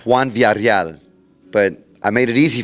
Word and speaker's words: Juan Villareal: It's Juan Villareal, but I made it easy for my fans.